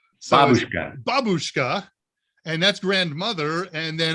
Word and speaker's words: babushka: pronunciation was absolutely horrible you do not put the emphasis on the second syllable it's always on the first babushka and that's grandmother and